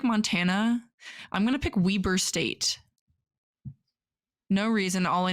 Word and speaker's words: Weber: I'm going to pick Weber State. No reason. All I know is it's just pronounced Weber, not Weber.